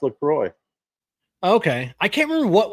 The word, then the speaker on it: LaCroix: It is pronounced LaCroix.